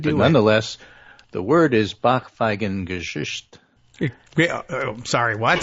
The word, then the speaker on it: Backpfeifengesicht: I will mispronounce it and mangle it, but nonetheless, the word is backpfeifengesicht.